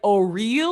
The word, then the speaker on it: O RLY: Is it supposed to be pronounced like O'Real or something like super wacky? I don't care how it's supposed to be pronounced. Oral is the correct pronunciation. Thank you. Yeah, Okay. However else other people want to pronounce it that's different, they're only doing that retroactively to prevent it from sounding like oral.